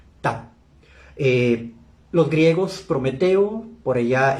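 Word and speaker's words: Ptah: Los egipcios le llamaron Ta, se escribe P-T-A-H, Ta.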